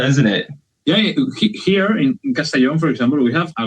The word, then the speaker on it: Castellón: Castellón? Castellón, yeah.